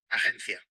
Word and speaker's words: agencia: In both languages, the letter G represents a soft G sound rather than a G when it's followed by an E or an I. But the soft sound is different in either language.